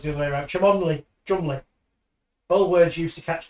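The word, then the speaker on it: Cholmondeley: No, it's It's like Beaver, it's pronounced Belvoir. Beaver. Or it's the other way around. Chamonley. Chumley.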